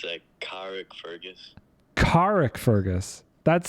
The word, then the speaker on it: Carrickfergus: Alright, it's a Carrickfergus.